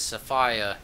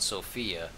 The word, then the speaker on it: Sophia: want to say it they pronounce it as safia in the game but then again they're in London England and I'm not I'm from America and over here we call it Sophia I'm not saying that